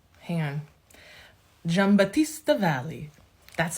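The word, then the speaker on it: Giambattista Valli: very fun feminine flirty Vibe J hang on jamb Batista Valley that's how the man on YouTube told me to pronounce that any of his spring 2023 collection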